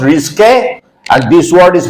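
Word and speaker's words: risqué: Here this word is pronounced risque and this word is pronounced risky.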